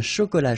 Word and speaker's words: chocolat: All right, so, un cappuccino, not really difficult to produce, un chocolat chaud, remember, C-H, chaud, chocolat, and then final T not pronounced, chaud, final D not pronounced, un café glacé, un thé.